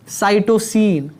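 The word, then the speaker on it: cytosine: I mean कि मतलब कैसे प्रोनाउंस करना है इसको? साइटोसिन, साइटोसिन।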